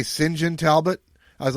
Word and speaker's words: St. John: My wife said, "Did it say Singen Talbot?" I was like, "No, it says St. John." She's like, "Yeah, Singen. That you can pronounce St. John as Singen."